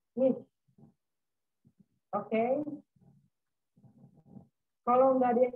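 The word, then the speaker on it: iş: Tadi sudah saya jelasin, S yang ada ekornya sama seperti S-nya dalam bahasa Indonesia atau huruf sya dalam bahasa Arab. Jadi cara membacanya itu ish, ish, artinya pekerjaan.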